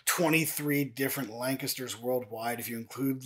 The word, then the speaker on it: Lancaster: the United States and it is Lancaster I often joke and say there's a hidden G in there between the N and the C so you get that lang aspect and then histor it's like k IST ER so lancaster so